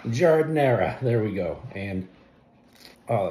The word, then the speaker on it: giardiniera: How do you pronounce it? Giardiniera. Giardiniera.